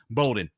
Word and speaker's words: Bowdoin: in Maine I believe it's I believe it's pronounced Bowden b-o-w-d-o-i-n in Maine so what's happening here see